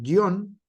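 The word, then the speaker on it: guion: acento gráfico Sale entonces guión Aunque suena fuerte en la en la en la o no lleva este un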